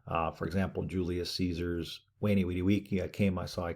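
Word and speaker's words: veni, vidi, vici: For example, Julius Caesar's Wani Widi Wiki, I came, I saw, I conquered. Kind of a mixture of the V and the U. Wani Widi Wiki.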